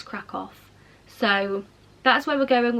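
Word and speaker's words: Kraków: We're going to, I think you say it as Krakow, but I know some people pronounce it as Krakow, but I think it's Krakow.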